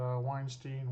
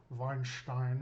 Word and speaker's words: Weinstein: are by the way I would say that Weinstein Weinstein neither of those are correct uh being of German Heritage vinin is uh how we technically pronounce that prepared to take on